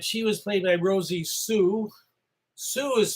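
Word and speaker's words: Xu: Mary Lee was the love interest of Dave Slade, and she was played by Rosie Sue. Sue is spelled X-U.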